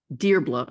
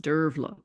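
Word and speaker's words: Dearbhla: their children was called debla I used to pronounce it and of course I found later that in Irish it's pronounced derla there were a great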